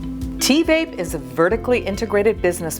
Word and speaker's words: TVape: for having me and T Vape would be the correct pronunciations but um I know it's a difficult name it is it is sort has TV and and vape sort of mix in one so I'm not I'm